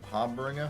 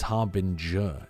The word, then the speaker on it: harbinger: is it Harbinger har haringer Harbinger har oh yeah it's harb in J it's like a j sound Bren is losing his